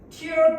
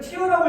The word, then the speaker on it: tear: tear, tore, torn, 찢다 라고 발음하면 안 되죠. 그러니까 이거를 tear라고 읽으면 뭔 뜻이야?